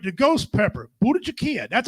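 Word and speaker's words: Bhut jolokia: Number 8, the ghost pepper, Budachikia.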